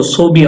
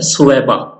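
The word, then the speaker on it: ثویبہ: عبداللہ اور حضرت سویبہ، جن کو صوبیہ عرف عام میں کہا جاتا ہے، درست تلفظ جو ہے وہ ہے سویبہ، ان 2 عورتوں نے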